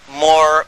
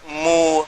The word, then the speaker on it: Moor: What connects it up is even the word Moor, because it's pronounced differently in different parts of Africa. And they call themselves Moor, Mu, Mur.